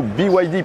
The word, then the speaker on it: BYD: Au salon, il y a également pas mal de constructeurs chinois dont le principal est sans doute BYD ou plutôt BYD puisqu'il faut bien le prononcer à l'anglaise, BYD qui signifie Build Your Dreams et il y a tellement de rêves dans cette voiture.